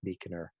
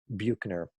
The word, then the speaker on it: Buechner: Frederick Buechner. Um, Looks like it should be pronounced Buchner, but he's a writer,